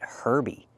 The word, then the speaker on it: herb: There's no H. Herbs, herby, or herbal tea, don't pronounce the H.